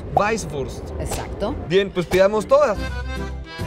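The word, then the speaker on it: Weißwurst: En realidad es una doble S. ¿Esto? Ajá. O sea, no se diría como Weiburst. No, Weisswurst. Weisswurst.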